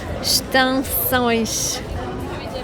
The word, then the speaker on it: extensões: Repara ainda que quando uma palavra começa com E, X, consoante, o E não se lê. Não dizemos extensões, mas sim extensões.